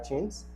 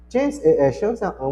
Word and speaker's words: chance: Chance, uma das poucas palavras, não são muitas, são bem poucas, que a escrita é igual português, o que muda é só a o som, porque aqui eu falo chance, ch t ch chance, there's a chance it, could e.